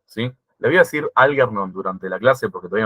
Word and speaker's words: Algernon: Le voy a decir Algernon durante la clase porque todavía no tengo ensayado la pronunciación, pero cuando lo querés pronunciar bien, que se note, es Algernon. Yo no lo voy a pronunciar así mucho, pero bueno, quedan enterados de esto.